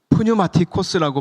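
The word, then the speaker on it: πνευματικός: 여기서이 신령한이라고 쓰여진이 단어는 프뉴마티코스라고 발음하는 헬러어 단어입니다.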